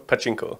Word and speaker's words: Pachinko: Pachinko.